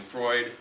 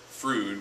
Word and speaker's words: Freud: Sigman Freud's name uh as I've said it's Sigman Freud I've seen some psychology Majors who are Juniors or seniors who have pronounced it frud which just makes me sad um but that's important